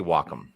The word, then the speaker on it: Wacom: pronounce it wcom wome I say Wacom because I've had people at Wacom say it's Wacom yeah